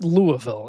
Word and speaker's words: Louisville: listening to some Grateful Dead with respect to Louisville. By the way, it's Louisville.